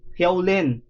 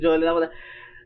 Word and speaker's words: Jolin: That's Holy so I was pronouncing her name wrong. Holin ha? Get that right Jolin.